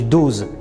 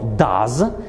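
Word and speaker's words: does: na przykład to robić Można byłoby powiedzieć dus chociaż tak tego nie mówimy mówimy to das i będziemy dodawać końcówkę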